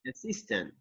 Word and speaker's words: assistant: assistant listen sorry yes you have the stress anthony and the second syllable personal assist assistant assistance assistant yes that's right okay